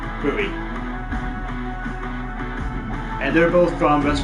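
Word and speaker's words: Bui: Bowie, it's B-U-I. Bowie.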